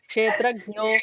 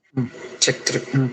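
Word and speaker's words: क्षेत्रज्ञ: But we also should not be pronouncing it as Kshetrajno Akshara Evacha is a mistake. Thank you. Kshetrajna.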